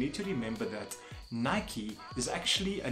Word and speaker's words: Nike: has to stick so not night but Nike it is kind of